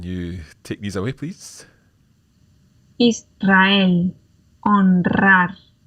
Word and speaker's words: Israel: So the rule is that when the R comes after one of those three letters, you have to pronounce it strong, vibrant. Okay, so Israel, honrar, enroscar, alrededor.